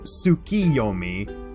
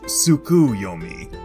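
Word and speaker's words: 月読: And also, because I'm a massive mythology nerd, allow me to also clear up that it is pronounced Tsukiyomi, not Tsukuyomi, as Tsuki in Japanese translates to the moon, whereas Tsuku translates to stick something.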